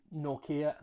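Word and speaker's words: Nortje: Kept Ruan Norkia. Thank you very much for the pronunciation advice, by the way.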